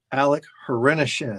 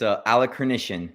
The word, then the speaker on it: Hrenishin: But this is a great opportunity to welcome Alec Hrenishin. Did I say it right? Close. It's Alec Hrenishin, but no worries. Everyone messes it up.